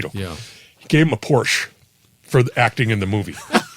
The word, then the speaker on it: Porsche: how he got paid Porsche Porsche I'm sorry you have to say it right it's a Porsche yeah Porsche Porsche